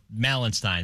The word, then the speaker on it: Malenstein: Are you sure it's Malenstein? It's Malenstein. That's what they said last night on the broadcast. Beck Malenstein.